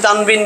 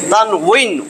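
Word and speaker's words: تنوين: লাগায় দিছি যাতে বলে অনেকে বলে কিন্তু সঠিক উচ্চারণ কি তানবিন না এই ওয়াও জের উই তান উইন তান উইন এই যে তানউইন কিন্তু সব জায়গায়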